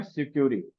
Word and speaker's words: Sucuri: बेहद popular plugin आती है जिसका नाम है सिक्योरी। क्या नाम है, SUCURI इसकी स्पेलिंग है।